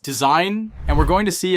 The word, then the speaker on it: Dzine: This is Deen AI, pronounced design, and we're going to see if it can actually replace traditional animation workflows.